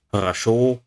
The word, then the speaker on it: хорошо: For example, Russian words хорошо, stress syllable, the last one, and хороший, stress syllable, second syllable, quite different.